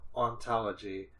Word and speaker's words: hauntology: haunt and ontology and when you say haunt through the french pronunciation you say aunt so ontology it's sort of an